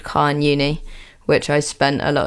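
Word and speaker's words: Carn Euny: I don't know about the scientific name of the moss because I did not learn Latin in school, but Carn Uni is correct.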